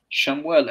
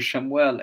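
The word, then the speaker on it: שמואל: a completely different pronunciation and the same thing with Samuel Samuel yes in English Samuel somal yes it sounds it sounds the same but shamuel and the Hebrew shamuel and Somalia personally I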